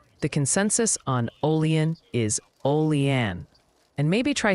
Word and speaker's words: Olean: Oh, and the Pronunciation Committee has submitted an update. The consensus on Olean is Olean.